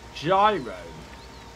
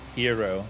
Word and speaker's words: gyro: now so understandable a gyro it's actually pronounced like hiro i think yeah oh yeah yeah